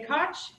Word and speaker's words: Koch: I'm Koch, and rhymes with Scotch.